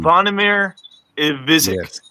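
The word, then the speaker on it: Zvonimir Ivišić: Zvonimir Ivizic. Yes. I'm not pronouncing it.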